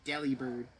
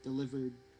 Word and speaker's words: Delibird: Just to pronounce it as Delibird. Yeah, you're you're not you're not supposed to pronounce it like deli like Yeah, like me just Delibird deli Delibird deli delivered delivered You you you you you get it.